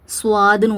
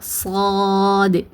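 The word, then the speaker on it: صاد: இன்னொரு மிஸ்டேக் என்ன பண்ணுவாங்கன்னா ஸ்வாது சவாதுன்னு ஓதுவாங்க. சவாது கிடையாது. இது வந்து சா சாது சாதுஃத்ஹா அலிப் சுகூன் சாதாலுக்கு சுக்குூன் கொடுத்து என்ன பண்ணனும்?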